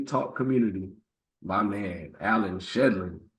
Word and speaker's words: Shedlin: So today for episode 125, I am here with the man named Allan Shedlin, right? Said it right. Shedlin, yeah. Allan Shedlin.